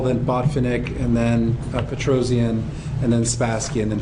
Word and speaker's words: Petrosian: the fact that uh Petrosian is pronounced just that way with four syllables um it is a